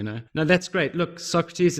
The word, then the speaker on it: SAWCRUHTEEZ: I'm on trading view Socrates is spelled kinda how it sounds s.a.w see our UHT